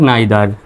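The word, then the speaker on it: neither: মধ্যে কোনটিকেই বোঝায় না তবে এই দুটির উচ্চারণ আরো অন্যভাবে করতে পারবেন সেটা হলো আইদার নাইদার দুটি উচ্চারণই সঠিক ইদার নিদার অথবা আইদার নাইদার মাই self এমওয়াই মাই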